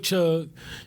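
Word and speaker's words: CHUCG: hill urban community garden c-h-u-c-g yeah to see is silent at that farm which we'll talk about new growth later with the with the organization but anyway uh with chug you know we were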